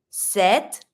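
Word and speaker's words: sept: like a s sis set set careful you're not going to pronounce the P you're just going to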